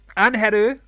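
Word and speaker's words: Ángel: If you can use the actual Mexican pronunciation. That's Angel. Anheru. Yeah, because I have seen even people here in Chile saying Angel, Angel, Angel. Not, she's Mexican, right? Yeah. It's Angel. It's Anheru.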